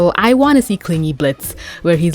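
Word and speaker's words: Blitzø: He's still gonna be a Blitz with a silent O, crude, rude. But imagine how the story ends if he goes back to being Blitzo. He was Blitzo, he silenced the O, but then he goes back to being Blitzo.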